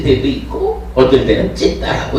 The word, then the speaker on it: citta: 여기 발음하는 방법이 영어하고 조금 다른데 CITTA를 쓰고는 찢다라고 읽어요.